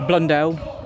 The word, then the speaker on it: Blundell: Can I get your full name and how to spell it, please? obviously. Yeah. Surname as well? Oh, Blundell, BLUNDELL.